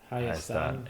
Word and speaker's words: Hayastan: That is Hayastan, Hayastan, Armenia.